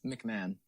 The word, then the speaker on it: McMahon: McMahon.